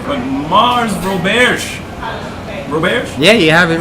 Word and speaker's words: Roberge: It's Roberge.